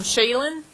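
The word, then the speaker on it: Shailen: Um so, um Shayen is how you say his name, Shayenbot.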